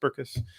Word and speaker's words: Berckes: something like that but no it's two syllables berkus um so a lot